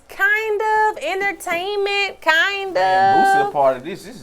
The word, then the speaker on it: Boosie: And Boosie, am I saying it right? Lil Boosie. Boozy. Lil Boozy. Boozy. It's Boosie, man.